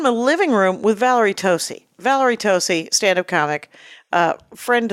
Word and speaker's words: Tosi: It's Tosi. Is it Tosi? Yes. Yes. I want to make a long O for some reason.